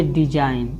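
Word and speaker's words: design: जैसे देखिए डिजाइन, इसको क्या बोलना है, डिजाइन, यानी यन से पहले आया जी हमें ई का हो जाएगा, साइलेंट हो जाएगा, यानी डिजाइन, यानी इसको जी को साइलेंट रखना है।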